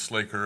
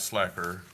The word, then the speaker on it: slaker: To be clear, it's pronounced Slaker and not slacker.